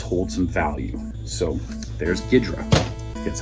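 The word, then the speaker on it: Ghidorah: So there's Ghidra, that's how it's pronounced.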